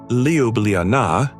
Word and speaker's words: Ljubljana: Pronounced Ljubljana, I know, it's a bit tricky.